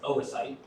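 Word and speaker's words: oocyte: So fertilization and that's pronounced oasite.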